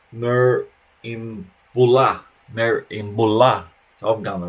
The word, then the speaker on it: Merimbula: And Merimbula is far south coast, pronounced Merimbula.